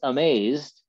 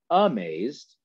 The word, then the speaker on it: amazed: And just like we would normally say the word, the stress in that two-syllable word by itself is on the second syllable. It's amazed, not amazed.